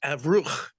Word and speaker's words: Avruch: He says, no, the original pronunciation is Avruch.